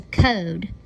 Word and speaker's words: code: gonna change it to code Oh and we're gonna add that e to the end so it has that silent e that makes that o say its name when I use my